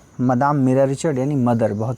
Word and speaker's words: Madame: देखिए मदाम ही बोलते हैं फ्रेंच में, मैडम नहीं बोलते। स्पेलिंग भी देखिए MADAME है।